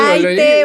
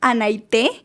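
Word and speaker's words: Anaité: Sí, porque todos siempre dicen mi nombre mal. Está difícil, O luego, Anaite, o Ana. Bueno, mi nombre es Anaite. Anaite. Anaite, con tilde en la E al final. Ajá. Anaite.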